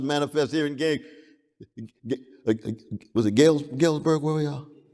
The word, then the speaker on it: Galesburg: Some of it manifests in Knox College, some of it manifests here in was it Galesburg, where we are? Galesburg. I just want to pronounce it right.